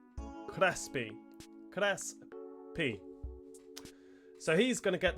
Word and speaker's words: Crespi: I googled his name as well, and I am pronouncing it right. Crespi.